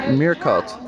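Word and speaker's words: meerkat: all hidings Mir cats Mir cut you pronounce it as a Dutch word Mir Cut Great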